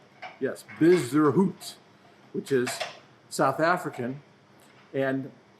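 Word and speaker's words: Bezuidenhout: European Tour people and said hey I just pronounced Christians last name and I get bizz der hoot yes busy route which is South African and kids got an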